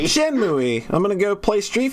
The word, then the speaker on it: Shenmue: I was pronouncing it Shenmue-Y, and I realized it didn't sound like I thought that it says... I thought that it was pronounced Shenmue. Shenmue!